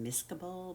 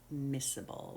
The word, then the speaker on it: miscible: and that is miscible looks like it should be pronounced miscable but it's miscible with an s okay and i told